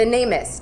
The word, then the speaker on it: NamUs: The NamUs database, the the government missing persons database. Guys, Lauren is saying n a m u s, NamUs is the way it's pronounced and it is a